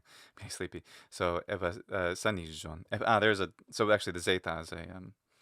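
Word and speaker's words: ἐβασάνιζον: But the zeta is geminate. That's important. So evasanijon.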